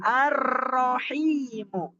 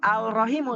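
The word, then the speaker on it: الرحيم: diikte atau dalam Imla sama dibacanya seperti itu ya arahimu Jadi dibacanya tidak alahimu tapi dia jelas nah ee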